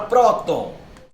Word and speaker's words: próton: Olha a palavra próton. A sílaba tônica é a penúltima.